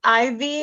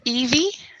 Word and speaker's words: Evie: thank you you're welcome Ivy is that how you pronounce your first name yeah it's pronounced Evie okay Evie sorry about